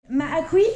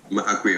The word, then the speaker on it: Maakwe: Maakwi, c'est comme ça qu'on prononce ton prénom? Maakwe, ouais, c'est Maakwe, ça.